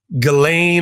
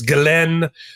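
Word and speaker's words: Ghislaine: There are over a thousand victims of Galileain or now I heard her lawyer pronounce her name at a press conference, Galen Maxwell.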